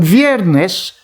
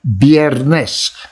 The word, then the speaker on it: viernes: and she did on viernes that is a spanish word for friday i think we in filipino we say bierness not v viernes okay on weirdness iguana